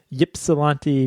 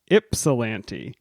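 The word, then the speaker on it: Ypsilanti: last week came from that place what I pronounced as Yip salant Michigan Yip salant I was wrong we put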